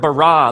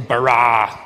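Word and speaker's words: בָּרָא: now the word for create is the word barah let me hear you say barah it's this forceful energetic word of making things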